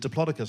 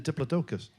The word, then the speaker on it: Diplodocus: I think when I was watching Jurassic Park, they said Diplodocus. I went, what? Oh, you mean a Diplodocus?